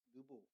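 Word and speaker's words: Nebo: 마운틴 느보 혹은 네보 이렇게 발음을 한대요.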